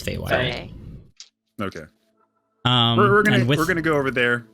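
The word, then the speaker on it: Feywild: wild perfect perfect pronounced is it is it fee wild i think it's fay white we're gonna go over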